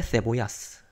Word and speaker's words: cebollas: de un kilo de cebollas. 자, 이제 여기 있는 것도 이제 세라고 읽으면 돼요. 그 세타하고 똑같이 읽으면 돼요. 중남미식은 시오시고 그 스페인식은 세타로 읽으면 되는데 세보야 양파란 뜻이고 어쨌든 철자 맞습니다.